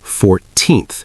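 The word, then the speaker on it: fourteenth: The source tells us that for numbers like 14th, the stress is on the second syllable, 14th. But for 40th, the stress is on the first 40th.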